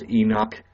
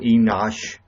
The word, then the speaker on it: Enoch: no one can pronounce Enoch I get tired of explaining that I'm not be notch or enosch so I'll be Milton